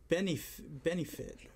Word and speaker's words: Benioff: The biggest news today, I think, on the internet was that Game of Thrones creators David Benioff, is that how you pronounce it? Benefit.